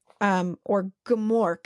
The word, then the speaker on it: Gmork: Or Gmork.